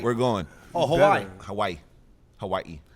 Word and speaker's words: Hawaii: Oh, Hawaii. Hawaii. How you pronounce that? Hawaii, nigga. Yeah. No, don't say yeah. He kind of pronounces the second I.